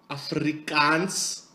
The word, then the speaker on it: Afrikaans: Afrikaans.